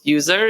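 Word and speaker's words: Yuser: But yeah, my company was called User. It's spelled Y-U-S-E-R.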